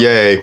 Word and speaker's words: Ye: or yay you know he spells it y e but he pronounces it yay but when you see